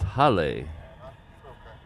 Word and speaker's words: hale: If you were in uh if here in Hawaii, that's Hale. It means home.